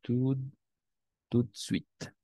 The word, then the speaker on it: tout de suite: Et on prononce tout de suite. D'accord? De un solo golpe.